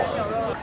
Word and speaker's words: Phở: Normalmente los coreanos lo pronunciamos mucho como "Po". Como es "pho", lo pronunciamos mucho como "Po", pero en realidad, más que "Po", se acerca más a "Phở" (Fuh). Si dices "Po", los vietnamitas no te entienden.